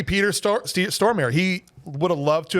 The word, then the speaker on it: Stormare: Or maybe he says Stormare. I think Stormare is how it's said. All right. We used to say Stromare, and people got mad at us.